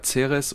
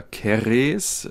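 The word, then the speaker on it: Ceres: so schön ja zu der zeres oder keres wie es wohl korrekt ausgesprochen wird m wäre noch zu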